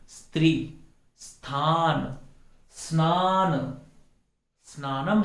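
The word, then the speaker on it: स्नानम्: स्त्री, स्थान, स्नान, स्नानम है, अस्नानम नहीं है, इसके पहले अ लगाने की जरूरत नहीं है।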